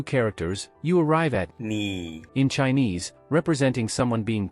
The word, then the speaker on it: 你: And now, let's transform that arrow into a needle, making it easier to link to the pronunciation of ni as a needle points directly at you.